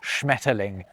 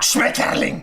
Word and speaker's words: Schmetterling: Sure, if you pronounce Schmetterling like that, Schmetterling, it sounds angry, but it's going to, isn't it?